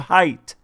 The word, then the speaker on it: height: h-e-i-g-h-t-h there's no t-h on the end of height so i said hey michael first grade it's